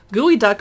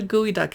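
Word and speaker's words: geoduck: that's great for winter gooey duck fried rice if you don't know what a gooey duck is it's a seattle thing look it up it's spelled g-e-o-d-u-c-k pickled pork rind and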